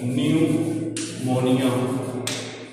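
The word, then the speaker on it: pneumonia: दूसरी डिजीज है which is known as न्यूमोनिया। P silent होता है, ठीक है।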